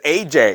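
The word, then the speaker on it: Aja: curtis blow and yes i realize this is supposedly pronounced asia but in this house it's aj we don't do pretension here what i want to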